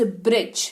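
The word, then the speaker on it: bridge: six number spelling rule अगर किसी शब्द में दी के बाद जी लगा हुआ हो तो दी का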